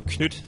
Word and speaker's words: Knytt: So as you might have noticed, I call it Knytt Underground, mainly because that's the way Nifflas calls it himself, if you just look up his Greenlight video. So Knytt, the word Knytt actually